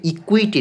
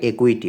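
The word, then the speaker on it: equity: ঠিক একইভাবে ইকুইটি না উচ্চারণটা একুইটি।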